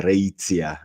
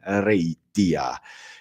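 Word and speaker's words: Reitia: que por exemplo eh na Itália é muito comum quando eles dizem de deusa reía a pronúncia deles é reía reía né Eh contudo Isso é uma pronúncia muito calcada no latim Eclesiástico né porque o o latim do Império Romano na verdade é eles eh eles leriam o t como ti mesmo né Rei tia e aí depois o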